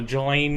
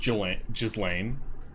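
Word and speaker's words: Ghislaine: tell me like uh Jalan Maxwell humanitarian uh her name is not pronounced that way no it's pronounced Jal jzan yeah you're right I just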